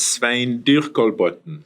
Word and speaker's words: Svein Dyrkolbotn: Can you pronounce it for the audience here in the correct Norwegian No way? problem. It's Svein Dyrkolbotn.